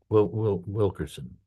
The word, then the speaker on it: Wilkerson: Who Yeah, is Colonel Wilkinson. Wilkerson.